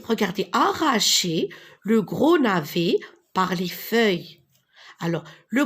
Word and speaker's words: navet: Le gros navet, E avec T, ET, on prononce E.